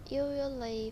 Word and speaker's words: usually: Usually, when you say the second syllable, joie, joie, you should feel little vibration in your mouth.